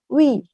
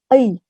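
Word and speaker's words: 의: ini tambah syahriza kek Jadi bukan we tapi euy euy beda dengan Wih oke lalu berikutnya dari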